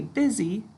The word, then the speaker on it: busy: word good busy right we say buzzy to spell it but we say busy when we're talking all right so busy is